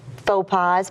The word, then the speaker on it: faux pas: with you just a couple of my networking faux pas, pet peeves? Oh, yes. Is it faux pas or fox pass? It is faux pas.